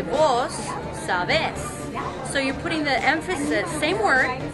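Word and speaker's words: vos: do speak Spanish however they use a different form of you they say v-o-s instead of two so they also put the emphasis on a different syllable so if you know Spanish you would conjugate the verbs but in Central America in Honduras you would say boss so you're putting the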